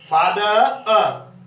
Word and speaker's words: father: फादर ये की समझ नहीं आती, इसको भी देखो, फादर जो आर साइलेंट है, फादर इस प्रकार इसको हम बोलेंगे, फिर इसको हम आगे लिखेंगे।